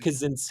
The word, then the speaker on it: Kaczynski: Oh, Kaczynski. Ted Right. Ted Kaczynski. Kaczynski. Yes. Yes. Yes. Yes. Another Polish name I know how to pronounce, I Oh, good.